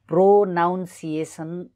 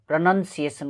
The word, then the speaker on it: pronunciation: यसलाई धेरैजना व्यक्तिहरूले प्रो नाउन सिएसन भनेर उच्चारण गर्छन्, तर यो गलत उच्चारण हो। यसको सही उच्चारण प्रनन्सिएसन प्रनन्सिएसन हुनुपर्छ।